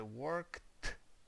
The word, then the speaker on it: worked: ніякого іншого звуку тобто після Work ви не кажете оцей звук ніяк ви кажете worked і все lived ВД оце не